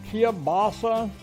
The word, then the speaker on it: kielbasa: I said kielbasa. Some people pronounce it kielbasa. You know, it doesn't matter. It all tastes the same regardless of how you pronounce it.